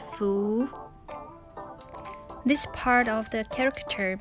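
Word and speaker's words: 福: luck or blessing and in chinese the pronunciation is foo this part of the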